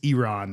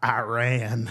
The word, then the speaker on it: Iran: for everyone at home, the correct uh pronunciation of the word Iran is Iran, not Iran.